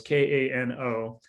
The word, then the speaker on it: Kano: up something called the the kano model can volcano i can't remember how to pronounce it so it's one of those k-a-n-o kano thank you the kano model which